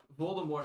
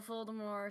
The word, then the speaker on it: Voldemort: Rowling decided to announce on Twitter, as she tends to do, that in fact the T is silent because it's it comes from French, which which apparently means flight uh flee from death or something like that.